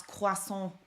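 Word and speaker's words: croissant: all out in in Paris Yang I did pronounce quason properly it is beautiful and the language is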